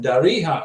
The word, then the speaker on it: Darija: Darija, like a jaybird, not like Spanish.